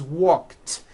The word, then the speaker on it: walked: The word walk, which has an unvoiced K sound at the end, walk, becomes walked. Yesterday I walked.